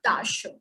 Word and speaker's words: Tasche: And if we have E in the end, then we will pronounce it as a, not E, not A, it will be a. For example, Tasche. Tasche is bag. So Tasche, not Tasche.